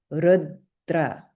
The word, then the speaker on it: rudra: effect on the first sound in the conjunct syllable. Okay. If we look at the name r, this sounds a bit like rudra.